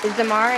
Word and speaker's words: Zamar: Zamar, is that how you say it? Yes, ma'am.